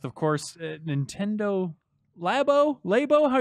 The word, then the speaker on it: Labo: course Nintendo lab Oh labo how you guys pronouncing lava lab oh lab we're saying lab Oh experimental this is why